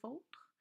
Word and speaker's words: vôtre: était terminée un passé si vous voyez un accent circonflexe ça change la prononciation le haut devient ferme et donc c'est le nôtre est pas la nôtre notre est le vôtre et les équivalents au